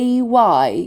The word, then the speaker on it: Thursday: So the S sound here, we pronounce it as a Z sound. Thursday.